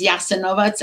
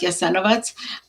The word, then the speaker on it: Jasenovac: By the way, while talking about Jasenovac, I do want to mention that in in former Yugoslavia, in Croatia now, in Serbia, it's referred to often as Jasenovac and not Jasenovac.